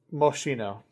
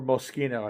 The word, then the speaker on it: Moschino: fault, but uh um Moshino or Moschino I should say. It's probably pronounced Moschino but 1990 Moschino Pom.